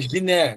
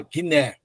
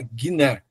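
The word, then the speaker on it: γυνή: Por exemplo, aqui, aqui é o G, como na palavra guerra, e aí aparece a palavra mulher aqui, ó.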